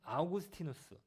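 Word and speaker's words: Augustinus: 어거스틴, 그러니까 미국식 발음으로는 어거스틴, 그리고 그분의 원래 이름은 아우구스티누스, 라틴어예요.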